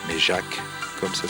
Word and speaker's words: Jacques: Jack, mais pas Jack J K mais Jacques comme ça s'écrit chez nous puisque le pilote est Jacques